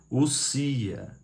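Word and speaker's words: οὐσία: Deus é uma só essência, do grego ousia, porque o O ali não se lê. Ali é o encontro vocálico no grego de ômicron com Y, e quando existe esse encontro vocálico, o ômicron é mudo, então se lê ousia.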